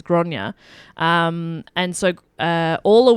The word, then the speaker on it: Gráinne: hear you because uh grace o'malley is is uh the anglicized name yeah and not a an actual close translation um granite isn't it doesn't mean grace so it's it's uh his actual name is gronya um and so uh